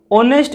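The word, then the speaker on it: honest: तो ऑनेस्ट इसको पढ़ते हैं, ऑनेस्ट से पहले हमेशा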